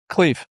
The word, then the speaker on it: Khleif: today Rod is it is it Cleve or Clyve? Cleve. Cleve, okay all right cuz I've heard people say it two different ways so so I'll go with the Rod Cleve and Rod is just an amazing entrepreneur.